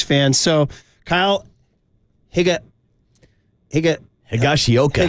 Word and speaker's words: Higashioka: so Kyle Higa Higa higashioka higashioka it rhymes with home run stroke it's a tongue twister